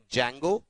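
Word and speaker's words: Django: we have frameworks like जंगो D silent रहता है ध्यान दीजिएगा पिरामिड एंड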